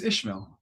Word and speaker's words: Ishmael: you really say it it's Ishmael in English Okay and Ishmael I